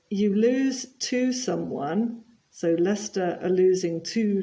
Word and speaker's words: Leicester: is always nil and you'll notice that it's not Tottenham but Tottenham and not Leicester but Lester Tottenham are winning one